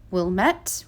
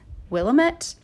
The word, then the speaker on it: Willamette: more muted the third one here i always pronounce wrong um but it's wilmette wilmette willamette something like that w-i-l-l-a-m-e-t-t-e i can spell it